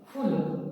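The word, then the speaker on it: फ़ूल: यहाँ फ में बिंदु नीचे लगा है तो हमारा क्या हो गया? फूल। इस तरह से फूल।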